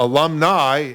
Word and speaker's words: alumnae: Now, alumni is pronounced the same way. AE is the feminine plural.